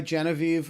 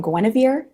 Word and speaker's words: Genevieve: I've gotten Guinevere, I've gotten Generva, there's a lot of, Generva. yes. I'm like, I don't see the R or the W, but we're going to go with it.